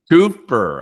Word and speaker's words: Kupfer: How do you spell it or I pronounce it? Kupfer.